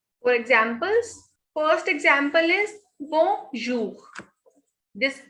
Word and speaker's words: bonjour: So the pronunciation of this word is bonjour. We don't pronounce this N. The sound of O and N is on. So B-O-N is bon. J-O-U-R, jour. So this is bonjour.